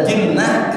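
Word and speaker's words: جِنّة: Kalau dibaca jannah artinya surga. Kalau dibaca jinnah itu artinya bangsa jin. Tulisannya sama, jim nun ta marbutoh. dibaca junnah bagi perisai, dibaca jannah surga, minal jinnati wan nas. Kalau jinnah bacanya bangsa jin.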